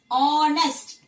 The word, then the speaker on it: honest: Similarly, when you come across the word honest or honorable, how do we pronounce this particular word? Honest. H is silent, isn't it?